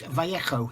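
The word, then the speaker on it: Vallejo: VA website or the HECO is how veikko is actually how it's pronounced if you look on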